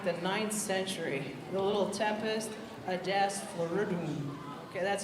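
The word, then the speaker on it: Tempus Adest Floridum: The little Tempest Adest Floridum.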